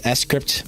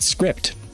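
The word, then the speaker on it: scrypt: on any of the s crypt minors and by the way guys little trivia for you it is pronounced s crypt not script it's s crypt like cryptography s crypt weird anyway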